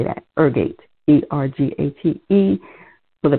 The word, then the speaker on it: ergate: case they didn't i didn't say that ergate e-r-g-a-t-e for the pronunciation ergate now we're going to have to